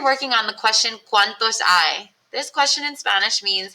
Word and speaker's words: hay: start with the word I it's not pronounced hey it's I and the H is silent so to say there